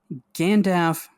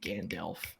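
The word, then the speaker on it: Gandalf: still be even um gandaf versus Dumbledore I I I just still hate the way you say gandal there's an L okay well oh my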